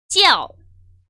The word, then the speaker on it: 叫: 이거를 굉장히 빠른 속도로 읽어주는 거예요. 찌아오, 찌아오 이렇게 돼요.